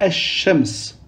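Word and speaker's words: الشمس: On dira el-qamar et on dira esh-shems. On dédouble le shin et on ne prononce pas le lem.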